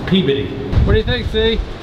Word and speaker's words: Peabody: won't get it right it is not peabody it's peabody what do you think